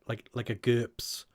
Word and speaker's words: GURPS: from Rob know what GURPS is? It rhymes with burps.